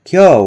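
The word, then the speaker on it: 今日: So, the word kyo would be written as kefu in kana, and the declarative ending masho was written as masei yu.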